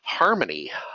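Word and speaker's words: harmon.ie: I think are cool harmony harmony ie there's a whole story there they're based out of Israel they wanted to be able to say the word harmony so they took the Irish country code that's pronounced harmony and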